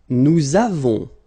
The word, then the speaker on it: nous avons: Nous avons, so you can put this little liaison, link between the two.